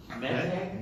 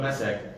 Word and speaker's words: meteg: Meteg? Meteg. M-E-T-E-G? Sure. Sounds Because it's a Hebrew word, so you could be transliterated any which way. But in Ashkenaz pronunciation, it would be called a meseg, right?